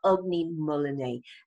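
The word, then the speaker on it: Ugni molinae: okay so this is merchant of me or ugly mullaney uh that's how you pronounce it chilean guava and this reportedly is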